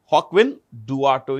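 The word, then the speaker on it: Joaquin Duato: This is pronounced with a J. Hawkwin Dato is the CEO of Johnson and Johnson.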